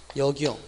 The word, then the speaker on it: 역이용: 그래서 영용 영용 그래서 이 경우는 소리상 니은이 첨가되지 않고 그냥 역이용이라고 해야 맞다는 것도 아울러 기억을 해두면 되겠습니다.